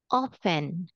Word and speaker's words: often: so hang in here this is silent T that one so we have here often often often often that's